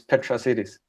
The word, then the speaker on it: Petrasitis: It's Greek. It doesn't have an English pronunciation, so it's Petrasitis.